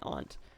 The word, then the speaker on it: aunt: Some people, depending on their families, might say aunt. But it's understood that ant, the family member, is different from ant, the bug, and that you would spell them differently but pronounce them the same way.